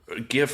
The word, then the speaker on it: GIF: this is very important is it pronounced GIF or GIF GIF 100% GIF you said with a hard I like this guy